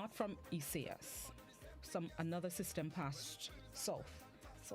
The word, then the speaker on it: Isaias: It's not Isaias. It's Isaias.